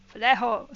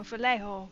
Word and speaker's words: Vallejo: So if you're Spanish, you don't pronounce the J. No, J is pronounced as huh. Falejo, so Falejo, something like that.